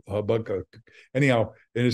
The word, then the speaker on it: Habakkuk: the line out of Habakkuk. I'm pronouncing it wrong. Habakkuk.